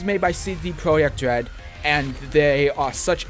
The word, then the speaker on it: Projekt: And yes, it's pronounced Projekt because that's how you pronounce project in Polish, and it's spelled in Polish.